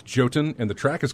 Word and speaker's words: Jotun: Here's music from, and I'm going to mispronounce this probably, Jotun. That's Jotun. I'm going to go with sure. I don't know what you're talking about. It's Jotun, and the track is called Jotun.